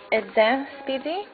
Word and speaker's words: Eden Speedy: It is the EDEN SPEEDY, correctly pronounced EDEN SPEEDY, and it is part of the limited edition